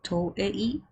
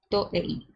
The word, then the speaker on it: Toei: So I need to pronounce it like I would pronounce it in Spanish and not in English. Toei.